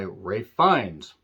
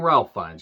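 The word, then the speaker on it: Ralph Fiennes: that is played by Ray fines I keep wanting to call him Ralph finds because that's how it's spelled Ray finds has been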